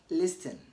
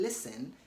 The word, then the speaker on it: listen: teachers students everybody saying listen but you should note that the T in listen is silent it is not supposed